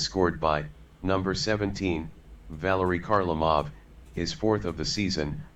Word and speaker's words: Kharlamov: there and we got to hear the brand-new pronunciation that I just put into the game Valerie Carmel off a kharlamov I should say his second goal of the